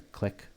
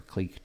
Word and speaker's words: clique: This is a click or clique, depending on how you want to pronounce it, where all the nodes are all connected to one another.